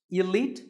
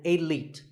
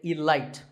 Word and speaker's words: elite: is the word elite actually there are two correct pronunciations elite and elite both are okay but just don't say alight there's no light in elite now if you keep